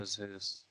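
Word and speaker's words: Jesús: Jesus, but I remember I knew to pronounce it as Jesus, not Jesus.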